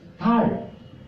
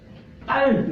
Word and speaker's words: 달: La luna, la luna es tal en coreano. Tal no tal debe pronunciar muy suave.